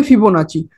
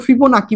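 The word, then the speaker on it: Fibonacci: तो उन्होंने एक टूल दिया था जिसका नाम है फिबोनाची। कुछ लोग फिबोनाची बोलते हैं उसको, कुछ लोग फिबोनाकी बोलते हैं। चीज एक है, प्रोनाउंसिएशन अलग अलग है।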